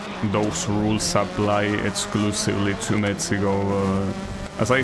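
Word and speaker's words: México: Mexico is always mispronounced. Yes, that is true. That's because in I don't know exactly how it works. like maybe it was like that in like in older dialects, but the ed in Mexican Spanish is pronounced like uh well like it was an H I guess in English, right? It's Mexico.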